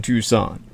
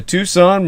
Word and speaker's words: Tucson: T information contact the Tucson murders. comom that spelled like tuxen Tu CS o n put the word the in front of it the Tucson murders.